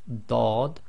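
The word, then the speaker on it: ض: Group 10 is the letter dad on its own, so it's like a thick D, dad, and with the sukoon it will give the sound of ad, ad, ad.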